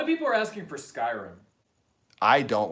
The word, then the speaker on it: Skyrim: played skyrim and then i was like skyrim and he was like scare him skiing him and he just kept saying it like that was the way that it was supposed to be pronounced and i was like